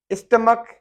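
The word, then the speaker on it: stomach: स्टमक, जिसको हम मैदा कहते हैं, स्टमक की एच साइलेंट है, और ये रूमेटिक, इसमें एच साइलेंट है।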